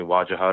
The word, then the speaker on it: Wajahat: I don't, like I said before, I'm not a one for the tyranny of extra syllables. So, you can call me Wajahad or you can call me Waj.